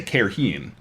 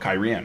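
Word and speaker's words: Cairhien: i said see you or kyrie like i wanted to say care heen you know and i looked in the in the glossary oh kyrian okay oh interesting but so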